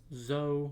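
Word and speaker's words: Zou: Fishman Island, Punkazoo, Dressrosa, Zoe, or Zoo, depending on how you want to pronounce it, Whole Cake, Reverie, and where did Wano just go?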